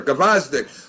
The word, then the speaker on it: Gvozdyk: when he went up against, and hopefully I'm pronouncing this right, Gvozdyk. Am I saying it right? Oh, Gvozdyk. Yes, sir, Gvozdyk.